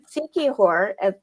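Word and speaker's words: Siquijor: like five minutes ago seihor I'm probably saying it wrong is actually a town in the Philippines right it's a province a province and it's s i quu i j o r which if you say it slowly comes out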